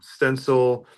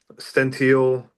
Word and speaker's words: Stential: We've been called stencil, centennial, stential. Stential. Yeah, That stential.